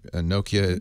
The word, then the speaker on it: Nokia: is now official right it happened on Friday Nokia or now fortunately I know how to say